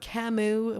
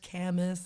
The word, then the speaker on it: Camus: you know they're they're talking about camus when i thought it was actually pronounced camis and like sorry my